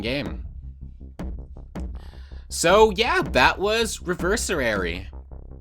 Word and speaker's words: Reversary: So, yeah, that was Reversary. Reversary. One less syllable there.